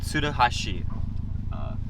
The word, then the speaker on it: Tsuruhashi: The place is called Tsuruhashi. That's how you'd pronounce it in Japanese, but in English that's how you'd also pronounce it, but it's Japanese barbecue in Kearney Mesa.